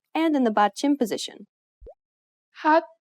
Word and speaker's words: 핫: This letter usually makes an H sound. In the 받침 position, you need to read it as T.